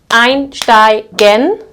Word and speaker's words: einsteigen: have several syllables, so einsteigen, this would be the second syllable. In this case, we also pronounce this as st. Einsteigen, which means to board or to enter, to hop on, okay?